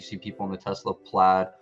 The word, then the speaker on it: Plaid: people on the tesla plaid or played depending on how you pronounce it say like you just